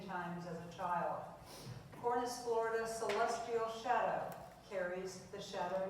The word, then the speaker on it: florida: The two best known and most popular dogwood types are cornis florida known as the flowering dogwood and pronounced just like the state of Florida.